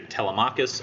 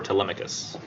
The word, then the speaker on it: Telemachus: it who wrote what I've heard people pronounce it two different ways it's um it's either Telemachus or Telemachus I usually pronounce it Telemachus that's how I've heard it pronounced the most but yeah this son's